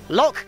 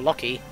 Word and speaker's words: Locke: to save the day the E is silent once again that seems to be a lot of this in the game Nash and then lock it's not nashy or locky but yes why was